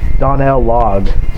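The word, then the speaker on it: Donal Logue: time uh i think his boss's name is donnell logged and that's how you pronounce his name and he's like a really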